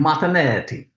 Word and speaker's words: Martinetti: yeah, I should get a phonetic dictionary, but you never know what names people pronounce them a little It's like wacky. Martinetti, fucking Italian.